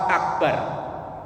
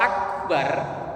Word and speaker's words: akbar: Jangan memanjangkan huruf ba dalam lafaz akbar.